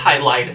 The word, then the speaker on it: Hydlide: the borrowed language, because it's written in katakana, which is Hai-do, Rai-do.